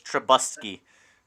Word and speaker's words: Trubisky: Jordan you mispronounced his name. It's Truth Bisky. It's Trubisky.